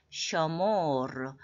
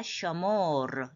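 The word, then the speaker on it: שְׁמֹר: 가지로 하는 겁니다 첫째로 남성 단수에는 시모르 쉐모도 되지만이 세로점 두 개의 슈바 약한 모음이라 어 어로 발음하는게 더 좋습니다 시모르 이건 남자 너 한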